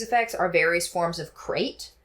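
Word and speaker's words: krait: So, another snake that will also have these effects are various forms of crate. K is spelled with a K like a cool kid. Crate.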